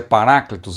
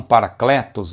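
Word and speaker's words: παράκλητος: Porque eh Paráclitos no grego, eu explico porque o a pronúncia é Paráclitos e não paracletos e tal.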